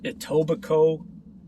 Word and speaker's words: Etobicoke: You'll have Etobicoke, and it's spelled Etobicoke, in the west.